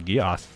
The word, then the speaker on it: Geass: i stopped watching it it's not pronounced geese no i'm pretty sure it's geass hello thresh oh code